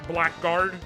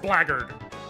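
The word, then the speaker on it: Blackguard: one who saw the word black blackard and pronounced that Black Guard because it's written Black Guard I read blackard and I don't know why it's pronounced blackard I feel like it's just to make me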